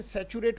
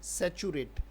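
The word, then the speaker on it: saturate: सैचुरेट हो गया ना इसे सैचुरेट पढ़ा जाएगा बेटा उच्चारण क्या है सैचुरेट इसके उपचार अपने बच्चे गलती करते हैं इसलिए मैं लिख देता हूं सचिव का रेट है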